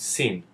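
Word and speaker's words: שׂין: thought you shin and the shin with the left dot is pronounced with an s sound and is called sin another topic i want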